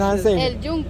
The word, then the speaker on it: El Yunque: El Yunque. El So the Yunque. Y is like more like a J.